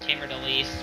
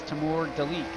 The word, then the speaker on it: Timur Deleke: I think Deleke's last name is actually pronounced Tamer Delise, but yeah. Well, I actually got it from the person. It's Timur Deleke.